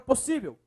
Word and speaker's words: possível: Qual é a sílaba mais forte? Ah, professor, é o si. Aqui, ó. É o si. Possível. Última, penúltima, ó. Penúltima. Então, você tem uma paroxítona também, que neste caso é finalizada em L.